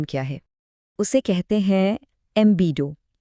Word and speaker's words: ambedo: اسے کہتے ہیں ایمبیڈو۔ اس کا تلفظ ہے امبیڈو، اور یہ لفظ لاطینی زبان سے آیا ہے، جس کا مطلب ہے